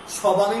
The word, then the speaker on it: স্বামী: এটা কি সবামি বলি না, এটা সবামি নয়। তাহলে এটা কি স্বামী, একটু ঝোঁক পড়েছে। কারণ শব্দের প্রথমে বফলা থাকলে বফলার উচ্চারণ হয় না, কিন্তু ঝোঁক পড়ে, মানে একটু জোর পড়ে।